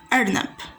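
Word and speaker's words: أرنب: First letter Arnab, is the Aleph with a fatha above it. It's pronounced as a. So our first example here is Arnab.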